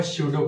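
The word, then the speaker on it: pseudo: चलिए, जो हमारा नेक्स्ट पॉइंट है वो है सूडो कोड। तो सूडो कोड क्या होता है, यहाँ पर पी साइलेंट है।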